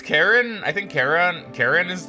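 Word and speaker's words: Charon: I think it's Karen. I think Karen. Karen is the way you I think you could say Chyon, too, but I think I think it's supposed to be pronounced Karen, funnily enough.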